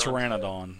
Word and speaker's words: Pteranodon: But as you guys are coming up to this bridge, these Pteranodons, I think I'm saying that right, Pteranodons, they're a... Pteranodon. Well, the P is silent. Pteranodon, that's it, that's right.